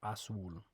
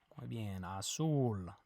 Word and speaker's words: azul: say blue in Spanish Azul let's say red in Spanish good remember that the J makes an H sound and the Z makes a s sound a soul not as Azul a rojo okay how